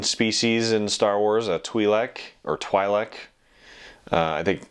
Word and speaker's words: Twi'lek: in Star Wars a twi'lek or Twi'lek I think I think it's twee like is probably how it's pronounced properly but I had no